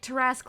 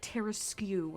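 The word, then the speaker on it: Tarrasque: Oh yeah, Twiggy used to say Tarask like Terraskew, and so I've taken up that mantle just to piss people off.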